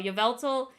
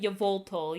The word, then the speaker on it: Yveltal: Yveltal. I was calling him Yvoltal. Yeah, it was Yveltal. Because I was saying Yvoltal for the longest time. So that's on me not being able to pronounce words.